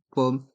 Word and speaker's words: pomme: pommes de terre une pomme de terre dans le mot pomme les deuxm reste en suspens pomme et dans le mot